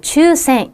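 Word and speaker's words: 抽選: ' 추센 ' 입니다 . 복권 이나 추첨 을 의미 합니다 . 예 . 그러니까 ' 츄 ' 라고 읽으셔야 해 요 .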